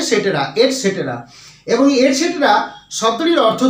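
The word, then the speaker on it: et cetera: যেটা আমরা ইংরেজিতে পেয়ে থাকি ইটিসি ফুলস্টপ অর্থাৎ এট সেটেরা এটা উচ্চারণটা হয়ে থাকে এট সেটরা অনেকেই বলে থাকে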